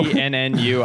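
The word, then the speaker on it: ennui: wheel in and no NNU i pull up that word right what's your word honoree only on we heard them and you i it does it it's spelled differently than it sounds so helping them have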